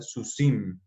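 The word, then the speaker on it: סוסים: Entonces, por eso esta samej, que es la última de la palabra sus, se lee con el puntico y sería susi, y entonces se hace la terminación iot mem, entonces quedaría susim.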